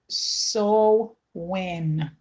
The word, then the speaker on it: Samhain: It seemed to be the same Shen Gaelic and pronounced so when.